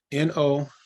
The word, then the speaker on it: Noair: It's Noair. Like nowhere.